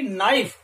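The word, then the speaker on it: knife: इसी प्रकार अगले जो वर्ड पे हम चले, नेक्स्ट वर्ड पे चले, तो वो क्या है, के एन आई एफ ई, नाइफ, इसका प्रोनाउंसेशन होता है नाइफ।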